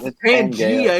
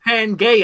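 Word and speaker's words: Pangaea: because I'm American okay it's not Pangia it's panga off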